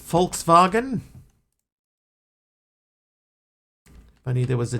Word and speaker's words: Volkswagen: that all right I believe in Germany it's pronounced Volkswagen I knew there was